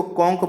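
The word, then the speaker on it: conch: ठीक है, कॉन्च नहीं पढ़ेंगे, इसको कॉन्क पढ़ेंगे।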